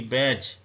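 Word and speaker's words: badge: ए डी जी ई बैज इसको D silent है इसको बैज पढ़ेंगे उर्दू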